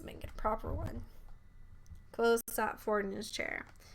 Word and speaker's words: Kvothe: My name is Kvothe, pronounced nearly the same as Quoth.